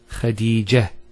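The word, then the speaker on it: خديجة: I actually pronounced the ta marbota as a ha. Medina, Khadija. Now if I stop on the ta marbota, it's actually pronounced as a ha in both cases.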